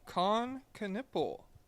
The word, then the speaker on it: Knueppel: KNUEPPEL.